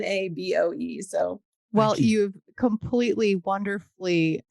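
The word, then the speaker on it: Boe: and tell people that Bo is spelled b OE because I can just see people typing in b b going why can't I find the words I know I always say it's like toe or Joe or so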